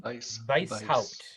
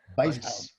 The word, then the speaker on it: Weishaupt: How do you pronounce his name? Weishaupt. Weishaupt.